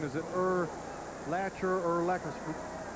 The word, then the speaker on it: Urlacher: his name is it Earth latcher or lacquis it rhymes with linebacker it's ER lacquer lacquer and linebacker will